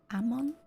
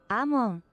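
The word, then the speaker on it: Amon: And it's is it Ammon or Aean? We're learning today. Okay, just hold on to your sandy cheeks. Isai. No. Ammon. Ammon. Yeah. Okay. Just Ammon.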